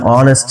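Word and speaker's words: honest: আছে ইউ আর অ্যান অনেস্ট ম্যান ইউ আর আপনি হন এন একজন অনেস্ট ম্যান সৎ লোক এখানে এন ব্যবহার করা হয়েছে কারণ এইখানকার এই যে অনেস্টের এইচ টা কিন্তু উচ্চারণ হচ্ছে না উচ্চারণ হচ্ছে মূলত এই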